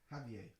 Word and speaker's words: Javier: Javier.